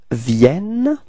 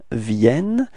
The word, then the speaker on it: viennent: And the final ENT is not pronounced, so it's Il Vienne.